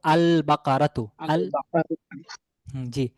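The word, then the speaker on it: البقرة: নিয়ে আসি তাহলে হব আল বাকারাতুজ আল বাকারাতু হবে লামটা উচ্চারণে আসবে কারণ এই শব্দটি বা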